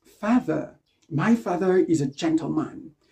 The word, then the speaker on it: father: Donc, on ne dit pas my father, c'est pas de, ou bien my father, my mother, my brother. No, no, no, no. Stop pronouncing the TH like that. You don't sound natural when you do that.